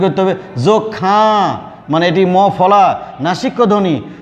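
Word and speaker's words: যক্ষ্মা: এখানে উচ্চারণ করতে হবে যক্ষা, মানে এটি মফলা নাসিক্য ধ্বনি, তাই এটি চন্দ্রবিন্দু দিয়ে মানে নাসিক্য করে উচ্চারণ করতে হবে।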